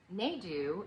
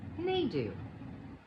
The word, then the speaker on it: Nedu: happens all the time naidu is not the way i would prefer to pronounce my name because it rhymes with doodoo thank you elementary school bullies they do rhymes with doo doo and so that whole thing happened but i was promptly informed and corrected that no honey in this family we pronounce it neidoo yay me but the